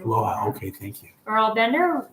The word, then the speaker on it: Loja: Loja is the pronunciation. Loja.